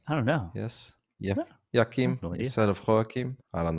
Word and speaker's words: Joachim: The J is pronounced like the Y in a yes. So how would you say that? Why? He's saying it's like a Y. So Joachim, is that what he's saying?